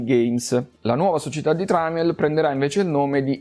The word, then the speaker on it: Tramiel: Non è un errore, manca proprio la i per evitare lo sbaglio di pronuncia, perché in inglese lo chiamano Trimal e anche noi l'abbiamo un po' italianizzato in tramel, ma in realtà è tipo tramel o qualcosa di simile come pronuncia.